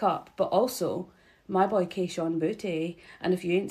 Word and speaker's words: Kayshon Boutte: But also, my boy Kayshon Boutte.